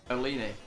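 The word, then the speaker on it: Olunes: How's it spelled? What? Her name. O-L-U-N-E-S. Olini. It can't be more. That cannot be more right, say it is, right?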